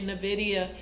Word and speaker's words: NVIDIA: she did on nvidia nvidia i think is how it's pronounced but some people say nvidia the uh chip the